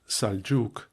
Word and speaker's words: Seljuk: English with an e as seljuk pronounced saljuk marwan pronounced marwan etc.